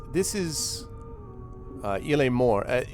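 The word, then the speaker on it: Morte: Il est mort. Yeah, in French it is more. But I don't know. I just always pronounced it mort.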